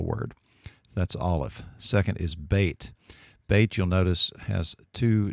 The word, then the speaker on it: Beit: Or if you see it without the dot, pronounce it like a V, as in van. That's Beit.